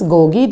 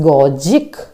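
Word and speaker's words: pedagogic: Some persons are pronounce this gogi. This is not gogi, this G. एक जो first जी है इसका accent अलग है और सेकेंड जी का एसेंट अलग है. So this is गॉजिक.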